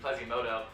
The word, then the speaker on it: Plazimoto: I just realized I've been saying that name wrong. Not Plasmy, Plazimoto on the Venture, which is a really interesting pick.